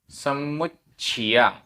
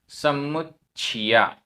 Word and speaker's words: समुच्चिया: गाथा क्रमांक 133 उच्चारण समुच्चिया आधा च छ समुच्चिया समुच्चिया मनुस्सा आधा स पूरा